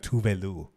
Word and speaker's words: Tove Lo: called her fucking That's Tovlo. how Americans say her name, but I think it's like Tuvelu.